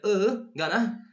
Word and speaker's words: gonna: So when people speak fast, they often pronounce going to as gonna. And this is the pronunciation for it. This letter E upside down, it's called schwa. So we pronounce like gonna.